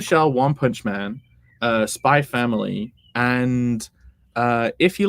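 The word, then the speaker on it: Spy × Family: with this with spy Spy family you never pronounce the X you just say spy family so uh that totally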